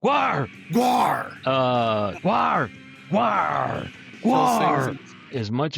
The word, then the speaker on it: GWAR: get into Gwar the don't you have to say it with a growl? Isn't that the the the actual pronunciation? I don't Yeah, Gwar Gwar. Yeah, like a pirate almost. Except an angry pirate from Antarctica that GWAR SINGS.